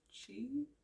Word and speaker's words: qi: So QI is actually pronounced chi, rhymes with T.